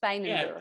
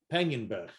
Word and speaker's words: Peijnenburg: See, my little name pronunciation tool didn't put the on the end of that G. It gave it a soft G, but I noticed the way you just said it, Peijnenburg.